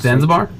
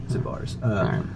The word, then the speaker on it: Zabar's: It's a pretty famous grocery store, but like she's Zanzibar. No, it's Zabar. Zabar's.